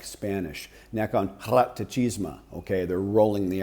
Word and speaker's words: Nakhon Ratchasima: the province of Kolat, Nakhon Ratchasima. I'm saying that, I'm mangling that horribly. How do you properly pronounce Nakhon Ratchasima? How do you say it properly? Fun? Nakhon Ratchasima. Yeah, see, I'm way off.